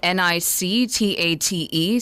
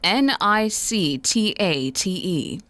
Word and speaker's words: nictate: Your word of the day is spelled n i c t a t e. spelled n i c t a t e.